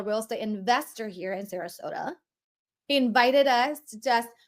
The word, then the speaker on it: Sarasota: like I even had to learn how to pronounce the name of the city which is Sarasota ex said Saratoga for like five months you know before I